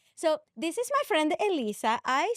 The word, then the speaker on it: Elyssa: a native Spanish speaker, the correct way to say my name is Elyssa. Elyssa. Yes. Right. If you are a non-native Spanish speaker, you would normally say Elyssa. If you're a non-native speaker, then you would be saying it wrong.